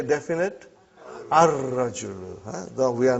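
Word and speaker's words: الرجل: You did not pronounce lam. Okay. Next one is ar-rajulu waqifun.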